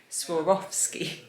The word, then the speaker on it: Swarovski: commenter who told me how to say it swarovski and lilia has got a little funko pop